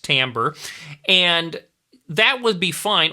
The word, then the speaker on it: timbre: Remember that word's pronounced timbre.